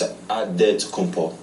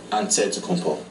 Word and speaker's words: Antetokounmpo: Way you gotta say with a D, so it's Antetokounmpo. But in the Greek way, you say with the NT, like Antetokounmpo.